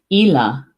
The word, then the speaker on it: Eala: but I don't Swan ela ela and Gaelic ei L a ela in Gaelic this one hmm all